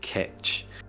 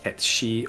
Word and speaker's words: Cait: which ends up being pronounced closer to something like ketch. So that as we see it, the pronunciation of that runs more closer to ketshi or ketshia, depending on which part of Scotland you might be speaking Gaelic. So, but that would translate